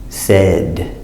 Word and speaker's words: said: to the a rule so this a no a we're going to bounce it a so it's set says says again said these words are exceptions they use the sound at like eggs the combination Oh a